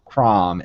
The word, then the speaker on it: Chrom: Smash Bros., though I would have really liked Chrom instead of Lucina. Am I pronouncing those both right?